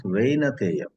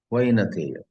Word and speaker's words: Vainateya: Vainateya, in North India they pronounce Vainateya. South, Vainateya.